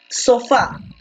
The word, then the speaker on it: sofá: brand por lo tanto si la mayor fuerza de voz se encuentra en fa en la última como se llama esta